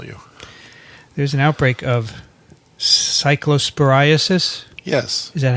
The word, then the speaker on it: cyclosporiasis: did i email you there's an outbreak of cyclosporiasis yes is that how to say it it